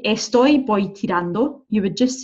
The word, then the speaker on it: voy tirando: And again, you'll notice the V there, I'm pronouncing as a B. Voy tirando, okay?